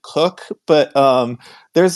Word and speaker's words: Koch: uh pronunciation I think my family has always said cook but um there's like